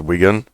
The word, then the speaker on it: Wigan: the coast to uh Wigan I think it's pronounced Wigan halfway from Preston to Manchester more or less